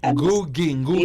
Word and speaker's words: Ngugi: Ngugi. Yes. Gotta get that pronunciation.